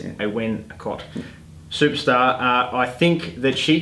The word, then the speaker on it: Awen Akot: a week saying, no, it's not how you pronounce it, it's Awen Akot.